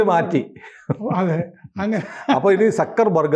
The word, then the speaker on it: Zuckerberg: അതെ അങ്ങനെ അപ്പൊ ഇനി സക്കർബർഗ് എന്ന് വേണം പറയാൻ ഇസഡ് ഡ്യൂ ആണെങ്കിലും ശരി മനസ്സിലാകുമ്പോൾ നമ്മൾ ശരി പറഞ്ഞു തുടങ്ങുന്നതാണ് പക്ഷേ അത് പറഞ്ഞു കഴിഞ്ഞാൽ പിന്നെയും നോക്കൂ പത്രങ്ങളിൽ സൂംകർബർഗ് എന്ന് കാണും അത് വരും അപ്പൊ ഹനുമാനെ